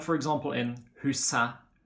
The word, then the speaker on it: huset: article of a noun, like for example in huset, bordet, vinduet. Okay, in these situations we do not pronounce the T.